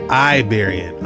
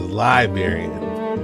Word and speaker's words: Iberian: This Oh, it's pronounced Iberian. I thought it was Liberian.